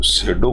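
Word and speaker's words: pseudo: है द सेडो Guru सेडो गुरु का मतलब होता है झूठा पाखंडी गुरु उसको पी साइलेंट रहता है उसको शैडो बोला जाता है विल प्रिटेंड प्रिटेंड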